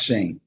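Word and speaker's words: Schoen: uh GM Joe Shane is it Shane or Shan or how you say his name Shane Shane even though it's got yes pronounce Shane all right head coach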